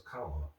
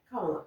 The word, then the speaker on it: Kamala: So that's why you see a lot of shirts now that just have like a comma and LA on it. So it's Kamala. Kamala, yeah.